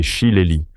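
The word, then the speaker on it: shillelagh: Cet objet redoutable est un chilag prononcé chilelli, un bâton ou gourdin traditionnel irlandais souvent fait en prunelliier ou en chaîne.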